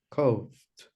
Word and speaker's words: coughed: Can I say coughed, coughed, or coughed? What do you think? The last, coughed. Coughed with the letter T?